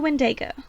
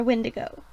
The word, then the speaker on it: Wendigo: The Wendigo. Or Wendigo. How do you pronounce it? Like, Wendigo, I've heard it both ways.